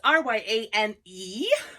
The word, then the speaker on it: Ryane: It is the Ryan dress. That's R-Y-A-N-E, and it is pronounced Ryan, just like if it were R-Y-A-N.